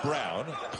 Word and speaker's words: Brown: Again, looks like Braun, spelled like Braun, but sounds like Brown.